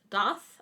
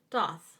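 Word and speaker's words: Thoth: overview okay okay so the first one is doth I think is how you pronounce that it's uh spelled t-h-o-t-h so this is uh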